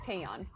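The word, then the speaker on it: Taecyeon: Okay, so the C silent, Taeyeon, right?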